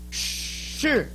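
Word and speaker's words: 示: Everybody say, sure.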